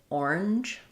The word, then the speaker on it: orange: It's stressed on that first syllable, orange. And so I would say this sound, the schwa in the middle, orange, is a little bit optional.